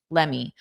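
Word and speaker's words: let me: a social media post, a native speaker will use lemme. Lemme.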